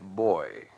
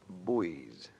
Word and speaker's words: buoy: No Navy man would ever say life boy. Pronunciation's optional, but you call them buoys in the Navy.